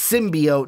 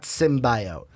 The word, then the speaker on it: symbiote: Is it's symbiote, not symbiote. But I'm a perfectionist.